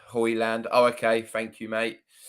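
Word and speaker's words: Højlund: It's pronounced Hoyland.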